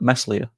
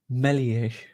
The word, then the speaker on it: Meslier: It'll be like when we first signed Melier, and everyone was like, Meslier. No. No. Stop pronouncing the S. Melier.